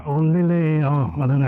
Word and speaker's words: Lille: We're not in Brexit, but so we're actually heading towards Lille, or Lille, or I don't know how you pronounce it, Lille I think, isn't it?